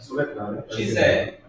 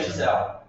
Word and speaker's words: Gisele: Gisele. Mas, a grande maioria das palavras americanas em inglês não pronunciam esse E no final. Então fica Gisele.